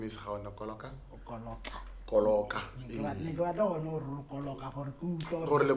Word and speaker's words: Koloka: Okay, my name is Gaone Koloka. Koloka. Koloka. Gore le pronounce Koloka. It's Koloka.